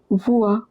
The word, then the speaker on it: voix: Plus loin, remember this combination OI is pronounced as OA or WA. Over here, loin. Similarly, voix.